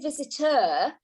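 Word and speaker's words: Visiter: to the resort and i'm saying visit her because the paper just spell it e r which is the old english spelling of the word visitor and uh all this time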